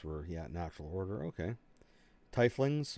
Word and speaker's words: tiefling: yeah natural order okay tie flings or t flings uh from the lower planes oh there you go pronounce tiefling so they're specific now i can't guess can't say titling anymore tiefling uh linked my